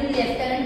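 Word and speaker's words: lieutenant: soldier म्हणजे सैनिक आणि लेफ्टनंट म्हणजे अधिकारी कर्नल आणि लेफ्टनंट उच्चार वेगळे आहेत आणि स्पेलिंग वेगळे आहे त्यामुळे लक्ष द्या स्पेलिंग काय आहे आणि मी म्हणत काय आहे द फर्स्ट वन कर्नल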